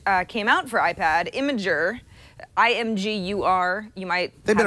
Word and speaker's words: Imgur: when you you know if you go phonetically imager what's neat about imager